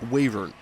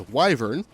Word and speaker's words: wyvern: would believe a true waiver now some of you guys you might pronounce it as wyvern I am NOT gonna judge you even though pronouncing it wyvern does drive me a little bit crazy but she embodies the